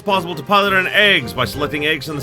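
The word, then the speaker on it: AGWS: eggs yes that is how it's pronounced it's pronounced eggs uh in this battle it's possible to pilot an eggs by selecting eggs in the submenu first select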